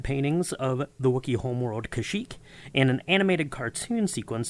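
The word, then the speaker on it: Kashyyyk: Ralph McCrory's matte paintings of The Wookie Homeworld kashyyk and an animated cartoon sequence that introduces Boba Fett and the special kashyyk is pronounced kazuk and is spelled that way in the script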